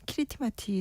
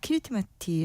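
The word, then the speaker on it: Kiritimati: 사실 그 앞서서 얘기했던 제일 동쪽에 있는 키리티마티 섬이라는게 크리스마스를 여기 길버트 제도였던이 지역 사람들이 자기네 발음 크리스마스를 그렇게 읽은 거예요.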